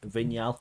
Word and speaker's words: Vignal: I'm joined by Gregory vigal I'll do the I'll do the French pronunciation for you thank you very much